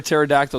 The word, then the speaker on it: pterodactyl: ball one all right why can't you hear a pterodactyl going to the bathroom why because it's p is silent ah goodness gracious Matt